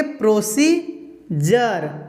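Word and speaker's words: procedure: आर ई अगर रहेगा उस समय डी का उच्चारण क्या होगा, ज होगा। ठीक है, तो इसको क्या पढ़ेंगे, प्रोसीजर, डी को क्या पढ़ेंगे, ज।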